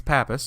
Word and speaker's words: Pappas: It's Pappas, just Pappas. Are you sure it's just two syllables?